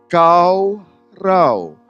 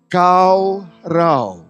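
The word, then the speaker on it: קָרָה: a r a h Tapi bacanya kau Rau k a w r a w baca bersama-sama kau Rau jadi bahasa Ibrani dalam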